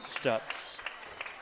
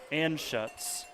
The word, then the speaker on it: Anschutz: Toss out here for Stutz. My mistake on that pronunciation. Anschutz gets a few yards.